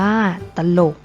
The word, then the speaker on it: ตลก: นํา อักษร ต่ำ เดียว เสียง ของ พยางค์ ที่ สอง จะ เปลี่ยน ไป ตาม อักษร ที่ เป็น ตัว นำ เช่น ตลก อ่าน ว่า ตลก จรวด อ่าน ว่า จรวด อร่อย อ่าน ว่า อร่อย เช่น เดียว กัน นะ